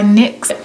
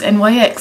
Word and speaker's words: NYX: to go in with my jumbo pencil by NYX someone in the comments were like you're pronouncing NYX wrong it's NYX not NYX blah